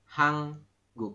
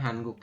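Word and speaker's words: 한국: guk seperti itu Jadi kita membacanya adalah hangguk bukan hanguk ya seperti itu lanjut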